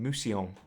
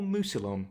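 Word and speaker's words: Mousillon: we begin our Tale in Mion or Muson whichever way you want to pronounce it as demon incursions wreak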